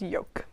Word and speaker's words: yolk: we're like oh whoopsie all right it is yoke that's what we have etc etc etc etc